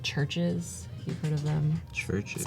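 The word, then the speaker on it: CHVRCHES: Churches. Spelled with a V instead of a U.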